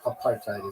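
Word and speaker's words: apartheid: ever said and have you heard a South African ever say apart. No apartite is what they say.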